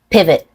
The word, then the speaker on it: pivot: to turn or twist pivot with a stop t a stop T is when you stop the air but don't release